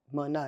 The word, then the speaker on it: Mouna: I'm like, no, you can, because it's Mouna. It's not a hard name. It has Mouna. It's like 2 syllables, right?